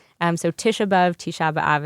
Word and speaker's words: Tisha B'Av: I grew up saying Tisha B'Av. So sort of flattening all of the vowels and the sort of real Ivrit, right, Israeli pronunciation of Tisha B'Av. So Tisha B'Av, Tisha B'Av, it's the same thing.